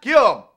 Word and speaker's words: Come: own designer fragrance called come for men it's pronounced Kum and Kum was found